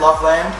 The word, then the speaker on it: Loveland: Loveland. This is the technical pronunciation.